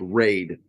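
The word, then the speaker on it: Rade: It's Raid. R A D E, but I don't know.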